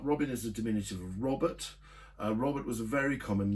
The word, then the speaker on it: Robert: I mean, something like 1 in 8 people were called Robert. And the diminutive, the diminutive is Robin. If you pronounce Robert in a French accent, it's Robert.